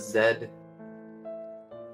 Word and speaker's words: Z: these foreigners Z is also an acceptable form of pronouncing it here but if he wanted to go with the British Traditions we go as said there's a moose on